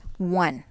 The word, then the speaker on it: one: letter, like the word one. It is spelled beginning with a vowel letter, which is O, but it produces a consonant sound.